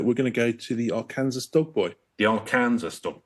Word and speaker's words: Arkansas: flood but SAS yeah Arkansas that's how it's pronounced that's the one which they've got which is like in England where we've got like Worcester I just thought Arkansas